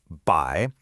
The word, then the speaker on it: 百: The first character here is by and it's pronounced by.